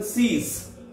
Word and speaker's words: six: Then 6, S-I-X. Spelling is the same, but pronunciation different. S I X. Spelling is same, but the pronunciation C's. C's.